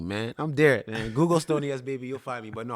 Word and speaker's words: Stoney S Babe: Like, just Google Stoney S Baby, STONEY SBABE. Yes, it's ghetto as fuck. Yes, it's supposed to be pronounced babe, but I do baby.